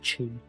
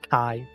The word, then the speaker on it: Chi: It clearly says Chi, not Kai.